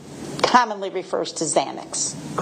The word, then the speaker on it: Xanax: field, you know that people commonly think it's really spelled with a Z. That's correct. Because of the pronunciation. Yes. Okay. So, a Z commonly refers to Xanax.